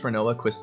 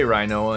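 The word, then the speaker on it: Rinoa: Sometimes I'll say Rhinoa and Renoa. I don't really say Rhinoa that often, but I do say Zidane and Zedane for sure.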